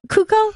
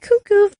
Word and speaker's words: Cuoco: Is that how you say it? Cuoco? I believe so. I've always been saying cuckoo. I guess I'm wrong.